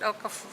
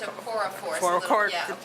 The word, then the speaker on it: Okorafor: Is that how you pronounce it, Okafor? I think it's Okorafor. Okay.